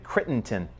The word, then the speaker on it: Crittenton: that is am I gonna say it correctly Crittenton is that correct crit Crittenden okay which is a refuge center front for